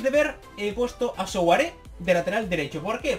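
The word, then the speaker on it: Souaré: me han dicho que souare se pronuncia sare y es verdad porque tiene tilder la última vez pero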